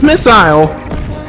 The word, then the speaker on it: missile: wrong my whole life it's not missile it's missile ah this stage is